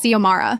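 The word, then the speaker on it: Xiomara: My name is Zomara.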